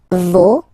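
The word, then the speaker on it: vos: then okay so remember even if you've got this final s you don't pronounce it as it was the case already for this word no you don't pronounce the final s Vo doesn't burn you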